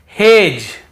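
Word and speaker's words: hedge: रहे हैं फिर देखिए हेज और वेज यहां पर भी डी को हम नहीं पढ़ रहे हैं ब्रिज एज हेज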